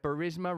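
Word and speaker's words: Burisma: of his son's employment at barisma rhymes with Charisma Ukrainian gas company and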